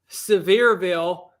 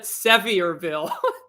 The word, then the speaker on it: Sevierville: and i think before i knew how to pronounce uh severeville i called it the locals destroyed me for this when i called it i called it sevierville but the funny thing is is i think